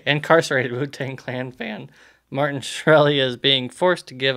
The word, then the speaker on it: Shkreli: Martin douchebag yeah Martin shkreli skree Lee Felix I think it's I think the case silent so it's like this rally Martin shkreli I always